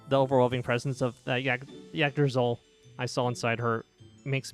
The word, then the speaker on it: Yggdrasil: Yggdrasil. Yggdrasil. Yggdrasil. Okay, that makes sense. That's a lot simpler to pronounce than I thought.